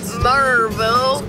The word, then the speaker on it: Maryville: I'm going to do something with it, but anyway, I'm on the way to Maryville.